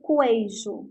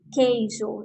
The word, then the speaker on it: queijo: pronunciar a palavra queijo quando pronuncio a palavra queijo vocês não escutam para oficial eu não falo coejo eu falo queijo então quando a letra